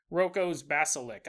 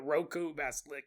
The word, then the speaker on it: Roko's basilisk: Unless you have pissed off Roko's basilisk. I think that's how you pronounce it. I don't know why I always call it Roku basilisk, but anyways.